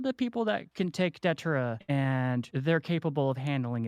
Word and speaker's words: Datura: Datura, sorry. That's what I meant. That's the proper way to pronounce it, listeners.